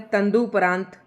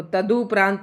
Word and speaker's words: तदुपरांत: उसके बाद है तंदुपरांत तो तदुपरांत सॉरी तदुपरांत तंदुपरांत नहीं जैसे कि मैंने अभी उच्चारण कर दिया था तो कई शब्द ऐसे होते हैं जो रूढ़ हो चुके होते हैं बोल-बोल कर और उनका हम गलत ही उच्चारण करते हैं। तो ये तदुपरांत है।